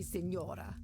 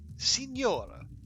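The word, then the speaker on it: señora: me Senora oh okay Sor three syllables I know I know we have a low opinion of Americans and their pronunciation here in this game but come on we can do that much sen Sora Senora oh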